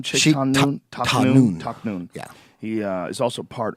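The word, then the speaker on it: Tahnoon: Taknoon.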